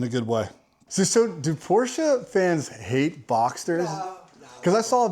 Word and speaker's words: Porsche: You have to say Porsche. Yeah. I know Porsche. My dad drives a Boxster. It's 2 syllables. Porsche.